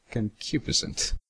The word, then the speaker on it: concupiscent: Wait, how do you pronounce that? Concupiscent.